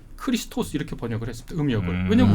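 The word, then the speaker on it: Χριστός: 그니까 헬라어 하는 건 고대 이제 그리스어음 그리스어로는 크리스토스 아고 크리스토스 크리스토스 이렇게 발음합니다 그 말을 아 포르투갈이나이 스페인 사람들은 크리스토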